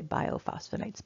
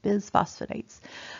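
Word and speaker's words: bisphosphonates: put on medications um bio I always say it wrong Biz phosphonites I always want to say biophosphonates Biz phosphonates like phosphosamax or bonova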